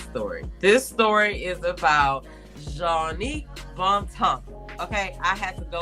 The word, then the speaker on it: Jongnic Bontemps: This story is about Jongnic Bontemps.